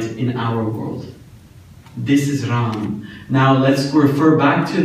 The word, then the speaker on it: Ram: I want to tell you guys a little bit about the name of Ram. Ram is 3 syllables. Ra, A, Ma.